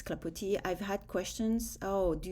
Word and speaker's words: Clapoti: I took off the S because you don't pronounce it in French. Um so, that's why it's Clapotis.